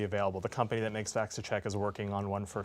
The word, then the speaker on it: VacciCheck: VacciCheck.